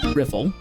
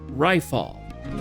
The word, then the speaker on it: Riffle: Riffle. Hey, you private second class. My name is pronounced rifall. Rifle, it's not that difficult.